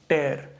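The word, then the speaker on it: tear: तो ये साउंड जो आती है वो टी प्लस एयर की साउंड आती है, टेयर। और ये साउंड यहाँ पे है टी प्लस ईयर, टीयर। तो टीयर और टेयर दो अलग अलग साउंड हैं, स्पेलिंग सेम है आपके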